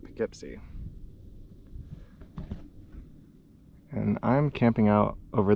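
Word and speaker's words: Poughkeepsie: Can't stand it out, but everybody's been calling it Pikipsy.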